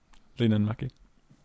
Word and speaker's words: Linnanmäki: Just say it like at the same exact speed. Don't pause on any syllable, and then you'll be saying it right.